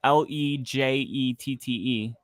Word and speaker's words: Legette: So it goes, it's pronounced Legette. So legit.